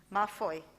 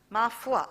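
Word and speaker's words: Ma Foi: founder of mafoy management consultants i hope i pronounced that right mafoy mafua okay as a founder of mafua management consultants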